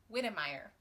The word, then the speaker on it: Witemeyer: The next book that I read was Karen Witemeier's, I've recently learned that her name is pronounced Witemeyer. And I'm going to try very hard to pronounce that correctly.